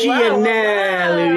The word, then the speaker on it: Gianelli: Gianelli, you got to pronounce it correct. Gianelli. Gianelli. It sounds like a pasta, like an Italian pasta.